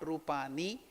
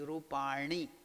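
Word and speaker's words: rūpāṇi: Again, that not rupani, it is rupani. The tongue should twist upwards, retroflex, it is called murdhanya.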